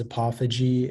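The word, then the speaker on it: apophyge: all the information yeah so the only pronunciation is apophogy it's a noun and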